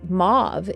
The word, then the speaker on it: mauve: like a turquoise but mauve is one of the colors that Archangel sandalfon is associated with or move if you prefer the more French pronunciation and sandalon to me